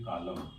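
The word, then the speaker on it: column: यद एन आता है तो न क्या होगा साइलेंट हो जाएगा जसे पढ़ेंगे कॉलम य लिखा ब ए एम एन इससे पढ़ेंगे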